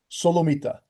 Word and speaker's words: Solomita: Solomita. Exactly. As it's pronounced.